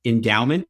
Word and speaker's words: Endaoment: mentioned at the beginning endowment is spelled a little differently than you would expect it to be e-n-d-a-o-m-e-n-t we like word play and that's